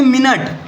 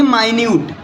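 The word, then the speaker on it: minute: चीज हो जैसे देखो एम आई एन यू TE spelling दोनों का सेम है लेकिन इसको बोलेंगे मिनट इसको बोलेंगे माइन्यूट इसको क्या बोलेंगे माइन्यूट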